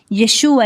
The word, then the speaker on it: Yeshua: Yeshua es la forma correcta de pronunciar el nombre del Mesías y este nombre terminó